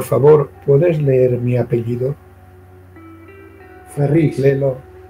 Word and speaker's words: Ferrís: Ferris. Léelo. Es que lleva acento en la I.